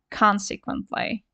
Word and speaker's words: consequently: result therefore consequently and please notice the pronunciation the stresses here consequently so thus and hence